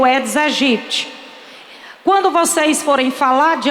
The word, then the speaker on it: Aedes aegypti: O nome, a pronúncia correta não é Aedes. O nome correto é Aedes. Não se pronuncia o A, que eu escuto até na televisão as pessoas falando esse nome equivocadamente.